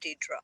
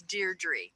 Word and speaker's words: Deirdre: Oh, I always said it Deidre also. Yeah, so, it's Deirdre.